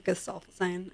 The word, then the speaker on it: Gesaffelstein: Well, I guess it'll be a mystery because he doesn't even do interviews, so we don't really know how it's pronounced. It's Gesaffelstein.